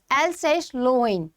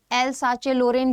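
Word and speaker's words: Alsace-Lorraine: Now this is a French word जिसकी pronunciation है एल्सेस-लोरेन। अब इसको आप लाइक इन सिंपल इंग्लिश एल्साचे-लोरेन भी बोल सकते हैं, which is wrong, but anyways to France.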